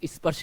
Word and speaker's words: स्पर्श: class देख रहे होंगे वो स्पर्श को अस्पर्ट पढ़ेंगे मेरे भाई ये अस्पर्ट नहीं है ये स्पर्श है कभी भी इस आधा स को आप अ से उच्चारण मत कीजिएगा इसको अ तो इसमें